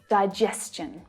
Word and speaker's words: digestion: When the consonant sound s is the sound right before the TION, the pronunciation becomes chun instead of shun, ch instead of sh. Question, exhaustion, digestion.